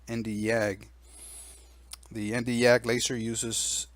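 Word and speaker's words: Nd:YAG: another commonly used laser known as the nd YAG pronounce nd YAG the nd YAG laser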